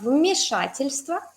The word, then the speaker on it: вмешательство: Si tienes problemas con pronunciar 3 consonantes seguidas, tienes que separarlas en parejitas. ¿Sí? Decir st, luego tva, luego stva y stva.